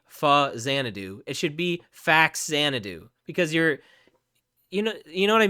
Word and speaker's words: Faxanadu: But I think phonetically it makes no sense because you would not say fa-macom. Like, you do not say that. You say fam-acom, all right? So similarly, it's not fa-xanadu. It's fax-xanadu for that same reason.